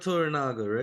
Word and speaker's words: Toranaga: it Toranaga? Yeah, there you go. So Lord Toranaga, right?